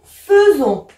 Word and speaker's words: faisons: Nous, et c'est là où on avait dit attention, on voit AI, mais on prononce E. Nous faisons.